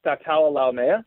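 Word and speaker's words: Sataoa Laumea: Help me pronounce his name. Oh, you're talking about Statala Laumea?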